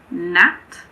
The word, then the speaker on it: gnat: Some examples are gnat, gnaw, gnome.